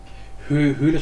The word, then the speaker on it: Höhle: Höhle schreibt man noch mit einem L. Bin ich das bescheuert? Das Ö wird da lang ausgesprochen.